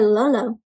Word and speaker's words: Lolo: This apron belonged to your Lolo, your grandpa. So Lolo is how you say grandpa in Tagalog. Can you try, my friends?